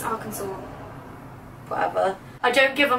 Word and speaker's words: Arkansas: That's how it's spelled, Arkansas. Arkansas. It says Arkansas. Rosie, it's Arkansas.